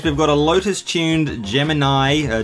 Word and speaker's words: Gemini: in this case we've got a Lotus tuned Gemini her jiminy as it's pronounced here and there's something wrong with it